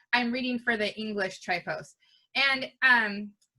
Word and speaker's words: Tripos: so what is the trip post so it was it's actually try post is how it's pronounced and it was um